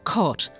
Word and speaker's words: caught: In most other cases, however, the GH will have no sound at all. Words like fight and bought and caught. Many of these words with a silent GH end in T.